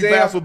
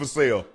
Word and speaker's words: Vassell: Yeah, it looked like it should be Vassell, but it's Vassell.